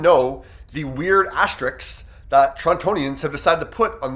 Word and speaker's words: Torontonians: See, when it comes to labeling the people within that city, we don't say Torontoans. No, we all of a sudden decide to pronounce that second T and say Torontonians.